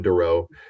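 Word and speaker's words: Doruff: it my last name is the word do and the word rough that's exactly how I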